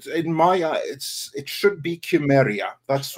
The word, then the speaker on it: Cimmeria: In my it should be Chimeria. That's how the correct pronunciation really is.